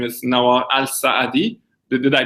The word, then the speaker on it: Nawar Alsaadi: people listening to this your full name is Noah al-saadi did i pronounce it right oh yeah that's correct perfect